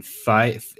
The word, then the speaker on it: Feige: gonna be called Infinity Gauntlet either, because Kevin Feige. Have we ever really determined how you pronounce it?